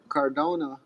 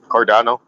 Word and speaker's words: Cardano: Oh, Erin Barack is the CEO of uh I believe of Cardona. How do how do you pronounce that? Cardano. Card Oh, Cardano.